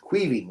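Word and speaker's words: Caoimhín: The Irish version of Kevin. Yeah, that's right. Quee. Quaving. Yeah. Um Kevin is the Angliciz way to pronounce it, right?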